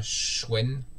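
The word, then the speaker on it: Schoen: Nadia Espoir, 80 rue Anna Schwen, Schwen, excusez-moi encore les Alsaciens, excusez-moi. Alors Schwen, c'est S-C-H-O-E-N, et c'est à Mulhouse, c'est 68 200, Mulhouse.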